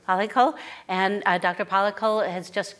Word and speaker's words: Palackal: Am I pronouncing that right? Palackal.